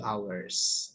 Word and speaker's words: hours: BAC bukan hours Jadi h-nya enggak usah dibaca two hours Nah itu ada ya